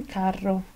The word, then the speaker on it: carro: ejemplo ramo y cuando y cuando es doble por ejemplo en carro letra italiana r como la